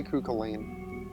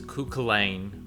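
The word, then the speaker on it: Cú Chulainn: pronunciations i say kooka lane yeah i mean that makes sense for ireland because kukulen klein um but then then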